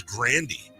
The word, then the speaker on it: Grande: According to Ariana Grande, the proper pronunciation is Grandy.